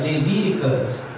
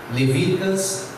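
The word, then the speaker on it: Leviticus: O terceiro livro da Bíblia, Levíticos, se pronuncia Levíticas, Levíticas em inglês.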